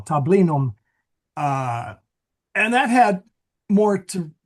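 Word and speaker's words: tablinum: I I didn't know how to pronounce there's a slight Yeah, there's a few letters you left out there. I'm I'm reading it English style, too. Yeah. Yeah. No. Tabinum.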